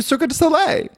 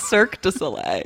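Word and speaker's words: Cirque du Soleil: apparently she can do circus away Cirque de Soleil circus little circus away I think it's pronounced Cirque de Soleil oh so it's French lay your pink journey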